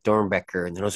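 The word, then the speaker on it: Doernbecher: And I was like, no, like, since he was, like, American, I knew that was the proper way to pronounce it, because there's no way an American's going to say, like, Dornbecker, looking at that.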